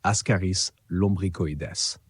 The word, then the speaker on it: Ascaris lumbricoides: Encore une fois, on le prononce Ascaris lumbricoides.